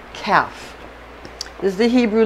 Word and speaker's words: Kaph: it with with that this is calf k-a-p-h is the best way to spell it because that differentiates that